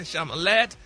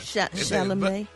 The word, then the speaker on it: Chalamet: It's like Chevrolet, not Chevrolet.